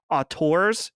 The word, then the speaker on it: auteur: And just to see his rise, as we were talking about a few weeks ago, the art, I always say it wrong. Auteurs, yes. Yeah, the auteur, yeah.